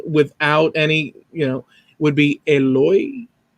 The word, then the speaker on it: Eloy: The correct original name without any, would be Eloy. Eloy. Dude, that's like, it's like perfect. Eloy.